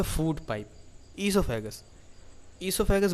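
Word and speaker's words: oesophagus: इससोफेगस बोलते हैं लेकिन ओ साइलेंट रहता है।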